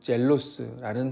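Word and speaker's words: ζῆλος: 헬라어 원문에 사용된 단어는 젤로스라는 단어인데 영어랑 발음이 매우 비슷합니다.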